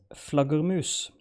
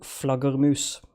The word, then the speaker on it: flaggermus: So the word is Flaggermus. Flaggermus? Sorry. No. Flaggermus. Flaggermus. Flagger, not flagger, flagger. Cat, please refrain. Spell it, please.